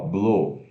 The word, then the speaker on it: blue: Ó, blue, B-L-U-E, é a cor azul, significa azul, e se pronuncia B-L-U longo, blue.